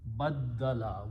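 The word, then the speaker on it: بدّل: Ba with a dal, but the dal had a shadda on it, tasdeed, and lam. Baddala. What's the meaning of baddala?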